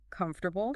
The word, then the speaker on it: comfortable: Four syllables. Comfortable, right? Yep. But here's the thing. Yeah. There's a twist in spoken English. Yes. That middle syllable, it tends to Well, it takes a little vacation.